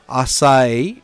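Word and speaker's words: açaí: children's I do right aai is pronounced ass assai assai oh it's just blueberries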